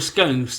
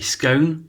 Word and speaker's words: scone: If you're from abroad and you're not sure what a scone or a scone is, because it can be pronounced either way, it's what we have